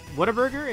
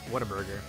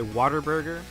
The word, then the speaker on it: Whataburger: Right, Whataburger. Depending on how ghetto you want to pronounce it, you could say Waterburger. I've heard that before. I don't like that, though.